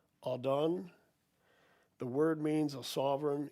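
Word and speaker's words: אָדוֹן: The word used is Strong's number 113, pronounced Adon.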